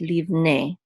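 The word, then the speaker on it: לִבְנֵי: So this is leave. And then we have a nun with it sere, and then the yud together says ne, leave ne. So this is of the sons of, or to the sons of.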